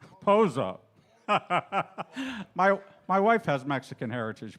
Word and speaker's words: Pozo: Yeah, Dizzy and Chano Pazzo. But this was arranged by... Is that how you say it? Say it. Francisco, how do you say it? Poncho? It doesn't say that on here. Pozo.